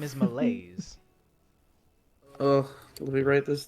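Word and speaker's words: Milaise: Uh, so it's how it's specifically spelled is m i l a i s e. Malays. Thank you. But it's pronounced like it's m i l a ys. Malays.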